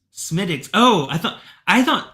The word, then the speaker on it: Smithwick's: sorry oh it's pronounced smiix smiix Oh I thought I thought I thought Z was just like being like this sucks smid dicks you know I think okay okay that W was silent okay okay I got